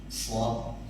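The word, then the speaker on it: ص: Huruf Shad itu ada ahli tajwid mengatakan dia punya sifat yang disebut dengan sofir. Desisnya itu seperti bunyi siul burung di hutan.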